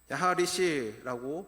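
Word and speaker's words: יַחֲרִישׁ: 야하리시라고 발음을 합니다.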